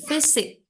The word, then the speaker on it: physics: Oke, the physics. Ingat PH itu Physics. bacanya Oh yes, F ya.